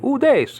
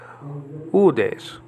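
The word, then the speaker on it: οὐδείς: iota and final sigma the e alta has a graph marker so you don't say ooh days you say udes okay that means no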